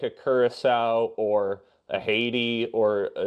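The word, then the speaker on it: Curaçao: For Wayne Gretzky, it is pronounced Kurissau, not however he pronounced.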